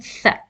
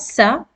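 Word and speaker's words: ث: The th you shouldn't pronounce as tha, like in English, the. No, it is pronounced as tha. Wherever in English you find th, you should pronounce as tha. Tha. It's not sa, it's tha. With your tongue between the front teeth, and you pronounce tha. It's tha, light letter.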